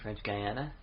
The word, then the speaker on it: French Guiana: of the or gang french guiana i pronounced a guinea it just sounds a little funny for me but yeah okay